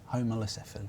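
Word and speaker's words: Homalocephale: But yeah, homolocephaly. Homolocephaly. Yeah. Not cephalus. No.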